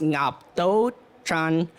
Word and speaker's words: Ngoc Tu Tran: My mom, her name, like I said, is Ngoc Tu Tran, but it's pronounced Ngap Do Tran, and a lot of people can't pronounce that.